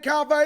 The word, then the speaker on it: Coffey: And Coffey is spelled like coffee with an EY. EY. It's like the drink, only spelled different.